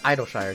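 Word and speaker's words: Idyllshire: of charlene named idol shire and it is pronounced idol shire not interesting or not or anything like that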